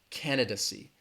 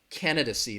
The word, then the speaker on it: candidacy: might hear this word candidacy candidacy the stress is on that first syllable candid see that third syllable has that schwa that duh duh candidacy candidacy again if